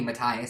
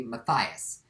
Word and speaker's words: Mathias: why they changed name its Mathias in the game and that's how it's spelled so just don't don't say metalia say Mathias like I feel like any